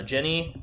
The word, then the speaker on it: Jen: Cowboy bbop um uh Jenny doesn't like it but his opinions are irrelevant soorry I dropped my phone drop a beat okay my name is Jen it rhymes with Ben no that that was